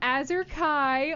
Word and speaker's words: Azure Kai: special guest here with us today we have azer Kai oh my gosh please tell me I got it right did I pronounce it right you got it right yes